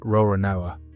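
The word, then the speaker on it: Roronoa: Say the surname the way Japanese pronunciation handles it and you get Rorinoa.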